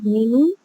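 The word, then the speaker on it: धेनुः: नस हे धेनु हे धेनु हे धन पहला जो धेनु है एकवचन में उसमें हष उ की मात्रा है धेनु और पीछे विसर्ग है तो वो विसर्ग का और मात्रा का उच्चारण आना चाहिए धेनु धेनु धेनु नव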